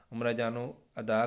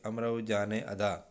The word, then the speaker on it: امراؤ جان ادا: تو مکمل نہیں پڑھا، البتہ عمرہ جانو ادا کچھ پڑھا ہے، شاید تلفظ کی غلطی کر گیا تھا یہاں پہ۔ ماہر مضمون نے کہا کیا کہا؟ تو پھر بتایا یہاں پہ کہ امرو جان ادا۔ ماہر مضمون نے امرو